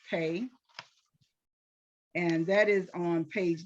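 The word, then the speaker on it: pei: um so now we're going to talk about the letter pay is p e i and I think it's pronounced pay and that is on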